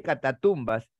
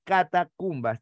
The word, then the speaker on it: catacumbas: un aspecto pues cadavérico no se dice catatumbas pero más de uno piensa que es así porque lo relaciona con las tumbas subterráneas en realidad es catacumbas dejando constancia que Cata